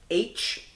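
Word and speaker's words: Aech: We get H, and it's kind of funny how H's name is spelled on there. It's A-E-C-H, like phonetically spelling the letter H, which is kind of funny.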